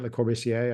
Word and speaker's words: Le Corbusier: of days because, it was a house from Le Corbusier. Am I pronouncing his name right? Le Corbusier?